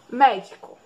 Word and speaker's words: médico: Qual é a sílaba mais forte? Mé, di ou có? Mé, né? Então vamos lá de trás para frente. Última, penúltima, antepenúltima. A antepenúltima é a mais forte.